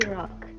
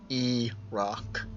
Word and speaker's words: Erok: Erok. Erok. Not O. E-rock. So it's like Iraq, but Erok.